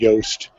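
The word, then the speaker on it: Yoast: yast honestly yeah yeah yast as in rhymes with toast um any any of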